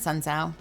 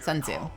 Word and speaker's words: Sun Tzu: art of wars at Sun Sao sorry I am saying the name wrong Sun Tzu um the war of